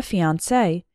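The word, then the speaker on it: fiancée: and the woman the fiancee they're pronounced the same but spelled differently we're getting married next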